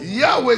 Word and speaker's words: Yahweh: Yahweh c'est Y. H. W. H. Il n'y a pas de voyelle.